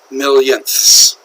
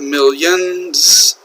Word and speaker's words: millionths: a comma here okay be careful with the pronunciation here it's not millions but million notice there isn't s here okay millionths on this